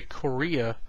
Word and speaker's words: Correia: I'm currently reading Monster Hunter International by Larry Correia, but not spelled like Korea. It's with a C.